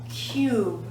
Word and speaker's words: cube: consonant short u sound but when we add the silent e to the end it becomes Cube Cube CU changes to cube so the basic rule